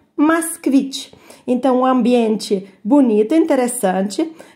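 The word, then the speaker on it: Москвич: A gente pronuncia Moskvich.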